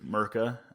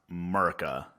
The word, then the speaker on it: Mirka: a a a used mirka um it's not pronounced murica but i started the